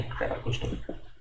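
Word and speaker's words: paraprosdokian: पैराप्रोस अलग कर लो और डोकियन, ठीक है, पैराप्रोस्टोकियन। The study of insects, so that is entomology, काफ़ी कॉमन सा है ये।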